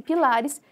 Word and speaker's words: pilares: No caso, a palavra pilares é uma palavra paroxítona, né? Essa aqui é a tônica, essa é a mais forte. Então, a gente vai contar até aqui pilares e vai cortar fora